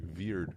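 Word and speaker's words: wyrd: I think it's pronounced like "veered" or something of the sort, Yeah.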